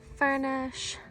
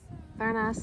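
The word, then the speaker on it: Furnas: Furnish. Furnace as it's spelled, but Furnish Lake.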